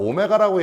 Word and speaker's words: 오메가: 얘를 갖다가 W라고 읽지 않아요. 얘를 갖다가 오메가라고 얘기합니다.